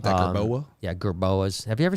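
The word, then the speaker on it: jerboa: So I like that gerboa. Yeah, gerboas. Have you ever seen a gerboa? No, it's like a gerbil. It sounds gerbil. Yeah, it's like it's spelled like gerbils, like GRB. GRBOA, like boa.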